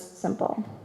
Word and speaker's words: SMPL: of a human body, which they call SMPL, pronounced as simple.